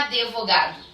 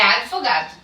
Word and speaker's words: advogado: falou eles não é advogado é advogado esse de é mudo ok ela consoante muda então eu não posso acrescentar uma vogal nessa consoante muda eu preciso pronunciar ela muda também advogado ok a mesma